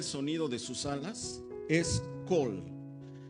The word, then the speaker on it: kol: El vocablo para sonido, donde dice oía el sonido de sus alas, es kol. Por su transliteración del hebreo al español se escribe K-O-L, kol.